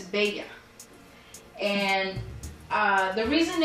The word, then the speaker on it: Bella: you I am bega and it's not Bella its beta and uh the reason its failure is because